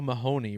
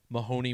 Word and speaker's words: Mahoney: And the gematria wasn't really interesting, but think about how Mahoney rhymes with the word baloney.